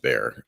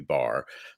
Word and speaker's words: Behr: um just remember uh my last name is weird uh because it looks German but is actually pronounced be um apologies yeah um but uh and it's not the animal um that would be bar um but uh yeah